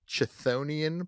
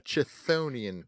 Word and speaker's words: chthonian: it it's a subclass of planet called here it's spelled CH t h o n i a an it's a chthonian planet a chthonian Planet say it with me chthonian Planet uh